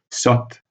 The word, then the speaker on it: saute: comme vous voyez dans le cas de saut au fermé, saute au ouvert.